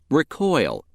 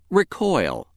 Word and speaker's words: recoil: If word 13 is being used as a verb meaning to shrink or to spring back, it is pronounced recoil. Recoil.